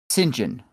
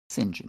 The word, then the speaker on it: St. John: John Allardyce, or if you were to say, I believe St. John is how it is pronounced. And places other than the U.S. St. John.